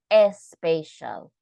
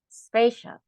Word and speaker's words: special: here is special okay we don't say a spatial because we don't have a e here so don't pronounce strong don't pronounce strongly because we don't have a special not when you have an S at the beginning we just make the sound you know like special special okay it's like CTO